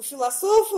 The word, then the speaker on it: Философов: У философа ударение на вторую О.